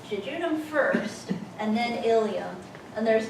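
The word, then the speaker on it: ileum: and stuttering Jun and ilum sounds the same as the hip bones but it has an e in it on here the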